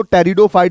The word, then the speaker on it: pteridophyte: फिर और advance plant है जिसको टेरिडोफाइट बोलते हैं, पी यहां साइलेंट होता है।